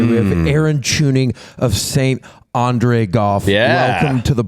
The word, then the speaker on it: St Andre: I was like, you see these Standray guys? And it was a literal mispronunciation. And Jake was like, it's St. Andre.